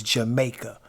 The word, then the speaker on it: Jamaka: If you look, it is spelled, it looks like Jamaica, but it's Jamaica.